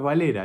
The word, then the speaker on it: Valera: Al principio le decía Varela, al principio, y después empecé a decir, no, es Valera, es Valera.